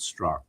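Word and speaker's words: Straka: T R A K A but he pronounces it struck. Last A is silent.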